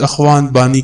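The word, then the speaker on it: Guanahani: کا نام دیا تھا۔ ان جزائر کے لوگ اپنی سرزمین کا نام گوان بانی بتاتے تھے، مقامی لوگ اس کا تلفظ اخوان بانی کر رہے تھے۔ اخوان عربی میں بھائی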